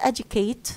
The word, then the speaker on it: educate: First, educate. This is a verb, as you see, and it's made up of 2 syllables. The first syllable is the stressed syllable. As you see, it's a higher in pitch, باللون الأزرق.